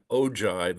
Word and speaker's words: ogive: You also have something called an ogive, is how that's pronounced.